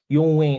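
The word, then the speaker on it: Yung Wing: He depending on if you are a Mandarin speaker or a Cantonese speaker, Yong Wing is the pronunciation in Cantonese. And if you are a Mandarin speaker like I do, his name is Rong Hong.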